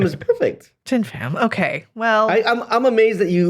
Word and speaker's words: Thien Pham: You told me how to say it and I said it wrong. You still said it right. All right. You said it right. Thien Pham is perfect. Thien Pham.